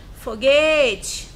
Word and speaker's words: foguete: Foguete, foguete. Qual foi a sílaba mais prolongada? Foi o G. Qual é a posição do G? O T é o último, o G é o penúltimo. Quando é penúltimo, eu classifico como paroxítona. Girassol, girassol, girassol.